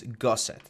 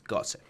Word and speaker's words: gusset: to announce that the the correct way to pronounce the gusset, as I was saying, is gusset, not not gusset. It's gusset.